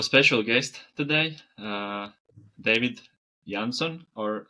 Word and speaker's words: Jansson: I mean, so open to whatever actually, but it's it's the a sound is really weird in Swedish. So, it would be like a David Yansson.